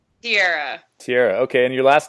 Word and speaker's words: Tiara: Just so we get it right, is your name pronounced Tiara or Tierra? Tierra.